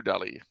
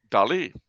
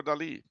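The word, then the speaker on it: Dalí: his name properly okay Dolly that's where the accent is on the eye yeah but everybody calls him dolly Salvador Dali it's Salvador Dali okay Salvador Dali that's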